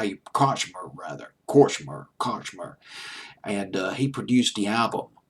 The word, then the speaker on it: Kortchmar: But I just found out that Daniel Korchmer, it's Kortchmar.